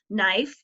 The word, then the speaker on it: knife: is a funny word it doesn't sound like a k it has a silent k at the beginning it sounds like the knife and there's a picture